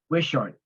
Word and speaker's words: Wishart: not responding and we're maybe we're pronouncing it incorrectly is West wishart w-i-s-h-a-r-t Street you probably just need